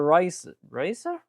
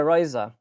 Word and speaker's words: Ryza: They are basically going to do a collab event of Atelier Racer? Right? Hold on, how do I pronounce that? Hold on, I have it up here. Yeah, Ryza. Atelier Ryza.